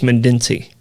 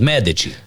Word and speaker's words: Medici: it that way yeah i always thought it was mandinsi oh medici yeah yeah yeah i've i've heard it but the italians they go with mad did she meditate no and believe